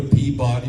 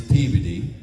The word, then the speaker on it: Peabody: like don't go to Peabody, Massachusetts. It's Peveody. Uh, and there's so many